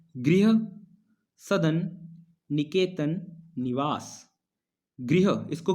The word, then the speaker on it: गृह: सो ग्रह प्रवेश नहीं बोलना, तो इसको हम क्या बोलेंगे, इसका उच्चारण क्या करेंगे, गृह प्रवेश।